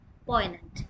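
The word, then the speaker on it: poignant: फॉर the examination next word is पोनेंट या जी इ silent here पोनेंट mean causing सटने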